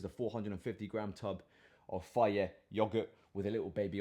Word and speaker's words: Fage: Fage yogurt, I don't know how you pronounce it. Faye, is the people always correct me. It's Faye, not Fage. Faye yogurt.